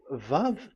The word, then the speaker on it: vav: So don't change it into W.